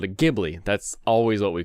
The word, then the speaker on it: Ghibli: worthy entry into the ghibli catalog and it's pronounced ghibli by the way uh if anyone is curious